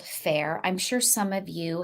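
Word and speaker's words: Faire: somebody had asked in our Facebook group about fair for wholesale if you want to dress oh that's right yeah so there is a website called fair I'm sure some of you have run across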